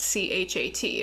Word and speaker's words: chat: And then in French, cat is spelled C-H-A-T, and it's pronounced chat.